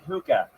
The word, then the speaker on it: hookah: Tony, it's pronounced hookah.